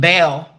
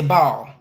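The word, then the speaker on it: Baal: a a spirit named Bale some people say Ball but you know tomato tomato call pronounce it what you will but that old ancient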